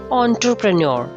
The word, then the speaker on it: entrepreneur: do you call him entrepreneur entrepreneur not entrepreneur it's enter enter entrepreneur last r is silent in british pronunciation so it's entrepreneur the next is